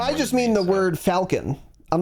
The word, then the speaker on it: Falcon: It's a fucking it's the Millennium Falcon, man. That's a Millennium Falcon. It's pronounced Falcon, by the way. I don't know if you knew that. Yeah. Americans will say Falcon sometimes, and that bothers me.